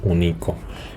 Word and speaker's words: único: o Avícola de acuerdo único unico no decimos ningún Nico Nico decimos único El golpe de voz recae sobre el antepenúltima sílaba y cuando las acentuamos